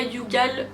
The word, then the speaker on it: Youghal: Youghal, nous on l'appelle Youghal mais en fait ça se prononce Youghal.